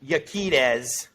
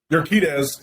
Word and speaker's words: Urquidez: This is Yaquidez. Did I say it right? Urquidez.